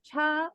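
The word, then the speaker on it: 茶: Por ejemplo, cha de té, Ujú. yo siempre le digo a los chicos, suena cha como como que le decimos Che Guevara, sí, cha.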